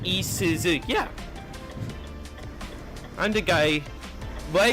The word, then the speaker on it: Isuzu: Rand says Isuza is pronounced Isuzu.